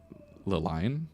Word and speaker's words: Liline: And it is pronounced Liline. It could be Liline, I guess, if you want to go there.